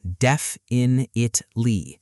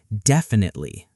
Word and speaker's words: definitely: A lot of people say every syllable, def-in-it-ly. Which isn't wrong, but it's not how natives usually say it. Right. Natural speech is closer to definitely.